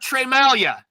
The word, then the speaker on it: Tremalgia: name right but I'm gonna nail it Trey Malia there you go you got it you know